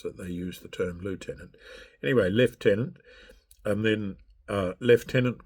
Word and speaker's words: lieutenant: a sub-lieutenant, and then when I say lieutenant, it's actually lieutenant.